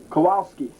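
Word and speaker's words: Kowalczyk: I believe that's pronounced Kowalski. Roy Kowalski will be batting third.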